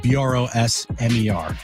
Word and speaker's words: Brosmer: Max Brosmer. Just how it's spelled. Brosmer.